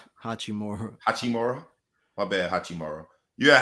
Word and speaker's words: Hachimura: You had Hashiruma. What's his name? How you say his name? Hachimura.